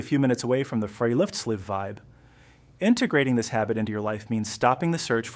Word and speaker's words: friluftsliv: This is perfectly captured by the Norwegian concept of friluftsliv, pronounced friluftslev, which literally translates to free air life.